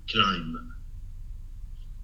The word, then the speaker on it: climb: comes after the m we write it but we do not pronounce it okay now add